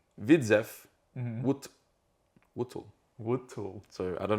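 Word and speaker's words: Widzew Łódź: So RTS Widzu Lodz is how I would look at it pronounced in English, Yeah. but according to Wikipedia, it is. So RTS, Widzew Wutl.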